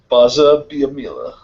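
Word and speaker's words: Gbaja-Biamila: Baja Biamila. Say it slow. I can't even pronounce. I can't pronounce things. Don't say the G. It's just Baja Biamila.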